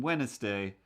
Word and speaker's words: Wednesday: drift over to wednesday i have a hard time not saying the niss in wednesday uh when it's it's